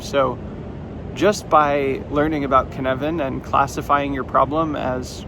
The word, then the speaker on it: Cynefin: So the first one I want to talk about is canvan which is spelled c y nef i n.